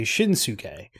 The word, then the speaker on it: Shinsuke: I could be pronouncing it wrong, but I would say Shinsuke. But it's Shinsuke, the second syllable.